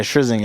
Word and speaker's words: Scherzinger: pronounce her last name? Zinger. Okay, Scherzinger. Oops. Yeah, Scherzinger.